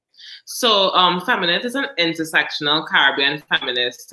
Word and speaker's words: Feminit: At first when I was reading online, I was like, femininity? Is it femininity? Everyone is always like, how do you pronounce it? I know, it's Feminit.